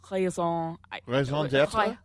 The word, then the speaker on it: raison d'être: By the way, so the proper pronunciation of that phrase in French, you don't say the R? Raison d'être?